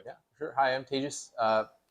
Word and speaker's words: Tejas: Hi, I'm Tejas, pronounced like contagious.